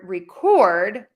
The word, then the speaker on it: record: And in the word record, when we have the verb, the second syllable gets the louder, longer, and higher. So we have record and record. So give that a try. Record, record. All right.